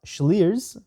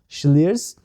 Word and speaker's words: Slyrs: I've never done a German whiskey review, and before this I've not tried a German whiskey, but Slyrs, pronounced or written S-L-L-Y-R-S, I'll show you the bottle, is expanding.